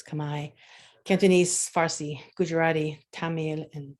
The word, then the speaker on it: Khmer: Some people pronounce it Khmer. I believe it's Khmer.